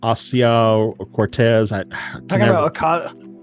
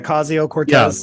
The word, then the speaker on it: Ocasio-Cortez: couple times where um uh I can't ever pronounce her name correctly the person from New York uh asio or Cortez yes Andrea ocasio-cortez Cortez thank you just call her AOC AOC